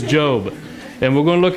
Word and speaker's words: Job: job go there cuz your head's just mispronouncing it it is job and we're going to